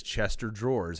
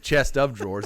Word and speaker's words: chest of drawers: regional things are pronounced she says chester drawers how many people have had their grandmother say chester drawers i got like my grandma well go ahead instead of chest of drawers they say chester drawers